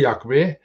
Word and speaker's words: Yahweh: But the first, we know the first part of the name is Yah. There's no doubt about it. All the names where it appears seems to have Yah at the beginning. That's the first syllable. The second syllable we don't know. Yahweh, we don't know with that.